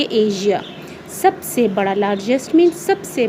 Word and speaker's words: Asia: एशिया हम normally कहते हैं, लेकिन इसको हम प्रोनाउंस करेंगे एशिया.